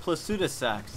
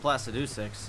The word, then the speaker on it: Placidusax: So it's pronounced Placidusax. I thought it was pronounced Placidusax.